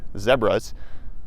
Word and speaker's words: zebra: Those are some zebras, or as they call them here in South Africa, zebras. Rhymes with Deborah.